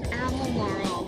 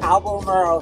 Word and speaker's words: Albemarle: Albemarle. The Albemarle Sound. Some new friends we met who said, all you do is just make believe you got marbles in your mouth.